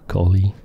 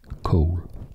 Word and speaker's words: Colle: in various interviews that it is not pronounced golly it is pronounced Cole Cole was an excellent